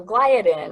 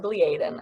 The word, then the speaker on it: gliadin: So gliadin or gliadin, I've heard it pronounced both ways, it's a component of the gluten protein.